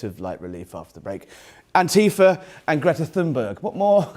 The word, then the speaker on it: Antifa: and I've been taught by an American to pronounce it properly Antifa.